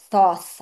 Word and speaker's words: Thoth: And Thoth, I don't know how you say his name in English, Thoth. In Hebrew, you say Thot. Thot. What? And I mean, he's an Egyptian god. So, I mean, probably this is how you say it, Thot.